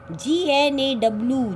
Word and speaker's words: gnaw: Gnaw. G will be silent. G will be silent. We will not pronounce it. That is the pronunciation of this word is gnaw.